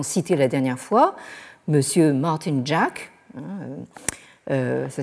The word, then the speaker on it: Martin Jacques: que nous avons cité la dernière fois Monsieur Martin Jack ça s'écrit Martin Jacques bon qui nous dit China